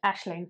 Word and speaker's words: Aisling: just a sound kahoe aisling is how I would say it like Ashling Ashling Ashling gorgeous name